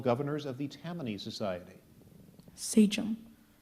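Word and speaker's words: sachem: of the 12 governors of the Tam Society Saum s a c h e m Saum that is cor actually a high honor here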